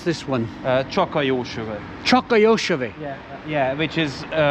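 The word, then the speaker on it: Csak a Jó Sör: And oh, how do you pronounce this one? Csaka-jósöve.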